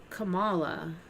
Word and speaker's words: Kamala: So it's like the comma in a punctuation, comma, la. Yeah, it's like Kama Sutra, but it's Kamala.